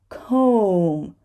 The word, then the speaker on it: comb: ba right bomb bomb the next word is comb comb cook please remember and we do not